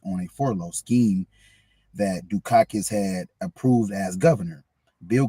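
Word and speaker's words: Dukakis: Dakis was was was dogged by a by a Republican televised advertiser. Oh, my bad. Um, it's pronounced Dukakus. Dak. Okay. Dukakus.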